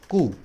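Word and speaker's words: coup: और मिलिट्री तख्तापलट को बोलते हैं मिलिट्री कू, ठीक है, कू, इसमें पी लगा होता है, लास्ट में साइलेंट होता है।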